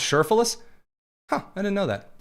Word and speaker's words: Cherfilus: Oh, her middle last name is pronounced Cherfilus?